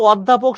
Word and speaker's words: অধ্যাপক: অধ্যাপক শব্দের সঠিক উচ্চারণ হচ্ছে এইটা, অধ্যাপক।